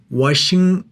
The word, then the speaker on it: Washington: 워싱턴. 자, T를 보통 중간에 나오면은 생략을 합니다. 그래서 워싱턴 정도로 발음해 주시기 바랍니다. 예를 들면 water fountain 그런 것처럼 워싱턴 CNN Pete Buttigieg.